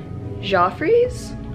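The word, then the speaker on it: Geoffrey's: to go over to malibu for dinner at joffrey's is how you pronounce it um it's a little restaurant like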